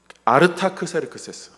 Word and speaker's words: 아르타크세르크세스: 왕으로 세웁니다 그 사람이 아닥사스다 이게 히브리 발음이고 헬라 발음은 어 아르타크세르크세스 저도 익숙치가 않아서 아닥사스다